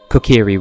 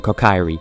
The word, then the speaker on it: Kokiri: like a nikka can't conscious effort to say kokiri rather than co Kyrie even though that's what my instincts are telling